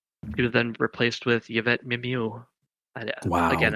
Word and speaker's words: Mimieux: was then replaced with Yvette Mimieux. Wow. Again, I don't know if that's how you pronounce her last name. No, that's pretty. Yeah, that's good. Yeah, it's French.